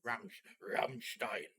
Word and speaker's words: Rammstein: is that right so how you pronounce it properly in german ramstein you always have to say it like that because it's that's